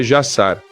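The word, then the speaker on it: Jashar: A pronúncia mais próxima do nome Jazar em hebraico é Jassar, mas vou pronunciar Jazar.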